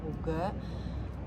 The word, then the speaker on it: hygge: Terus aku juga baca buku Lagem, terus sama Hoga, HYGGE yang dibacanya Hoga.